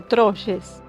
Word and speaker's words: Troyes: Pero bueno, ellos crearon la ciudad de Troyes, que sería, si lo leo como se escribe en francés, sería Troyes.